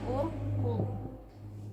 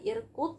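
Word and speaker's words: اُرْقُدْ: Urqud. Jadi bacanya apa? 1, 2, 3. Urqud, bukan irqud, bukan arqud.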